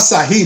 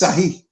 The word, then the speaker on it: Sahih: It's not Sahih, it's Sahih.